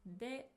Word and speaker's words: で: It's pronounced as you have already heard, de.